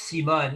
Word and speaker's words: Simone: Yes, it's pronounced Simone, you know, a life giver doctor from America's Frontline Doctors.